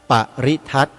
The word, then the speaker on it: ปริทัศน์: ปริทัต กัน เสีย ก่อน คำ ว่า ปริทัต มี ตัว สะกด ดัง นี้ ป ร เรือ สระอิ ธาร ไม้ หัน อากาศ ส ศาลา น หนู การัน อ่าน ว่า ปริทัต ใน พจนานุกรม ราชบัณฑิตยสถาน ท่าน